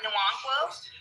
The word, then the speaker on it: Nwankwo: It's But Nwankwo? Am I saying that right? You're close. You're close. Nwankwo? Nwankwo. Nwankwo? Nuankwa.